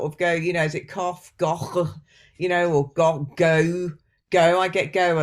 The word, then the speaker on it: Gough: My name is Gough. It often gets pronounced, disastrously.